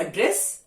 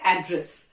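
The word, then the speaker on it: address: एड्रेस, इसके दो pronunciation भी होते हैं, एक होता है एड्रेस और एक होता है एड्रेस।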